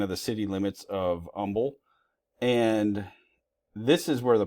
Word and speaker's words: Humble: You probably want to call that Humble, Texas if you are not from the area, but that's actually Umble, Texas. They don't pronounce the H. So this is Um, Texas. Um, at least anybody that I've ever met that's from there.